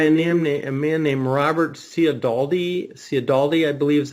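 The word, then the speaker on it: Cialdini: Cialdaldi, I believe is how you pronounce it, and he's a professor out in California.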